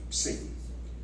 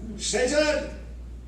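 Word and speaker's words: Seyton: Satan. It looks like Satan. It's pronounced like Satan, but it's spelled S Y T. Satan. I am sick of heart. When I behold Satan, I say this push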